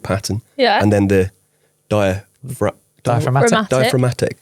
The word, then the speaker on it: diaphragmatic: which is He probably basically didn't pronounce the G, but yeah. Really? Yeah. Diaphragmatic?